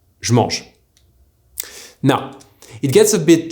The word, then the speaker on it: je mange: This is why a sentence like je mange is most often pronounced by Parisians like me, je mange.